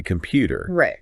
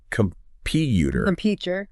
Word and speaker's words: computer: So, for example, if you take the word computer, you wouldn't say computer. It's computer. That PU gets the emphasis.